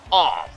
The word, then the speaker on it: AWF: soon yes the awf it's pronounced off mister monopolies renegade boxing